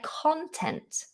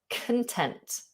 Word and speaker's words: content: I am content. The stress is on the end.